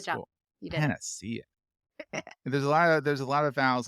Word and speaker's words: Paniccia: Paniccia. It's still not the hard. Where's the Where's the CH? Oh, CI in Italian is a ch sound, Oh, go figure.